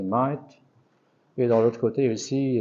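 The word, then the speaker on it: Maât: On n'a pas le symbole de Ma'et, mais on pense qu'elle tient dans sa main la plume, qui est prononcé Ma'et.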